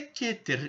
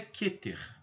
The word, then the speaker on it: Keter: é a esfera keter o que ter a pronúncia correta é keter e não quer como alguns pronunciam em português porque no hebraico não existe essa letra é aberta Então se pronuncia keter ela se posiciona na posição no topo do